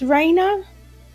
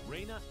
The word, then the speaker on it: Reina: is I think it's I think it's pronounced Raina I think but yeah let's do